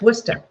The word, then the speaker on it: Worcester: It's spelled Worcester. That's Worcester. Exactly. It's Worcester, Mass. Not Worcester, which we like to call it that down here because it pisses everybody off up in Boston.